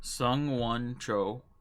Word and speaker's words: Sung Won Cho: Sung Won Cho, aka Pro ZD. It's like the two English words, Sung and Won.